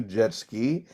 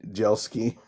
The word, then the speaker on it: Jelsky: you pronounce uh uh not like jetski but yet yes okay well i don't know how do you say your name jjelsky yes beautiful i'm learning